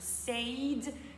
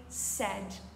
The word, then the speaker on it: said: Je sais qu'il y a un AI et qu'on aurait naturellement tendance à dire said. Cependant, said est erroné. On dira say, said, said. La prononciation de said s'apparente au verbe céder. Lorsqu'on dit il cède, c'est assez ressemblant.